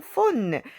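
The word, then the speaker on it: faune: 예, 프렐루이드 라프레미디 덩 폰느. 폰느 하면 여러분 판의 미로라는 영화 알죠? 거기서 나오는 반인반수 그 판을 말하거든요. 폰느라고 발음합니다.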